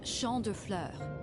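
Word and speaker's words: Champs de Fleurs: just like I imagine Champs de floors how do you say that it's Shand Flur it means Field of Flowers this is the place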